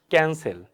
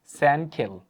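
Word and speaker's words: cancel: তো প্রথম যে সির উচ্চারণ এটা কি করে থাকি আমরা যে ক্যান এখানে প্রথম সির উচ্চারণ করছি আমরা ক পরবর্তী সির উচ্চারণ করছি আমরা হচ্ছে এই স এর মত সাউন্ড করছি রাইটতো এখানে দেখেন যে ক্যানসেল রাইট তো ক্যানসেল না বলে আমি যদি প্রথম সির উচ্চারণ যদি হচ্ছে এভাবে স করি পরবর্তী সির উচ্চারণ যদি আমি এখানে ক তাহলে কি হবে সানকেল আচ্ছা স এখানে দন্তস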